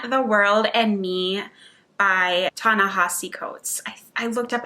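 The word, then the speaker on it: Ta-Nehisi: non-stephen king between the world and me by tana hossi coates i looked up how to say his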